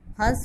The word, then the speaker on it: हंस: यहाँ हंस में अनुस्वार लगा हुआ है, बिंदु लगा हुआ है और इसका उच्चारण नाक से हो रहा है।